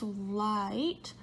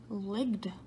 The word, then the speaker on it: light: Yes, light, bright, and might. They all have a GH in them, but we don't actually say those sounds. We don't say ligged, right? We don't say brigged or migged, right?